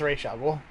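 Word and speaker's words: Ra's: anything wait which is correct razor ghoul or racial it's racial it like is that like for real or was it yeah it's from the comics it's like the way it's supposed to be pronounced so this is patches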